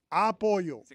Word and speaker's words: apoyo: Apoyo. Come on, dude. He didn't ask for any of this. Put the emphasis on the wrong syllable.